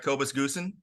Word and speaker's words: Kobus Goosen: Kobus Goosen?